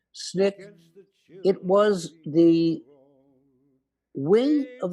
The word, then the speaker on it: SNCC: known as snick from the initials sncc is pronounced snick it was the wing of the southern civil